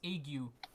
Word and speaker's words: ague: and shivering okay and apparently that's pronounced egg you yeah thank you iggy